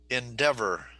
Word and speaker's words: endeavor: Endeavor. Okay. Yes. How many syllables in endeavor? Uh, Endeavor. 3. Okay, 3 syllables.